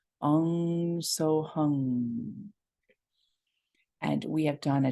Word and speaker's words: Hung: words if you will though you might hear it as three syllables h-u-n-g so hung what's powerful about a lot of Sikh chants is that that NG at the end of many words it causes a vibration to move through the body it doesn't